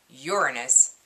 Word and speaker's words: Uranus: other one is uranus yes that's how you pronounce that word uranus in the case of libya so um i